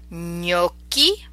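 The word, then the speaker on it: gnocchi: okay sorry we have no key in yatta and yellow Senya on you know so you can hear that GNA makes a distinctive near sound me okie our potato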